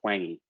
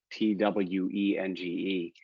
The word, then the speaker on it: Twenge: There's a great book by a professor named Gene, I think his name is pronounced Twenge, Twenge, called iGen.